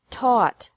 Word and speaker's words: taught: seek sought sought teach taught taught think thought thought remember that the g is silent in these verbs verbs with three different